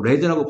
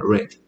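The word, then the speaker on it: read: 이건 과거형이죠. 레드라고 발음만 합니다. 레드.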